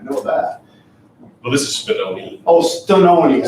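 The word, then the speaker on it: Spinone: Well, this is Spinoni. Oh, Stononi. I thought you said Spumoni. It's Spinoni. Oh, Spinoni.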